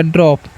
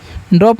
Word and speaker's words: drop: ठीक है, तो DR से ड्र, ओ का उच्चारण यहाँ पर ओ करना है, पी से पता हो गया ड्रॉप। ड्रॉप मतलब क्या होता है, ड्रॉप का मतलब होता है बूंद।